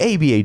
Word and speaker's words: ABA: It's just an article from ABA Journal, which you can't pronounce it. You have to say ABA, because then if not, you say ABBA Journal, and then people will